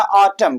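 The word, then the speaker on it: autumn: तो जब भी एम के बाद एन आए, यानी कि जब भी एन कहां आए? एम के बाद आए। जब भी एम कहां आए? एन के बाद आए। कहां है भैया? एन के बाद आए। तो वहां पर जो हमारा एन होता है साइलेंट होता है, वहां पर हम एन का प्रोनाउंसिएशन नहीं करेंगे।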